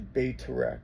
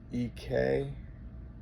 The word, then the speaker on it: Bayterek: It's like the Bayterek, I think is how you pronounce it. It's Bayterek. I think is how you say it.